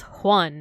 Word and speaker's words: Juan: So if you were to trying to spell the word Juan, you wouldn't like do the J sound. You wouldn't do this. It's pronounced Juan, right? With an H.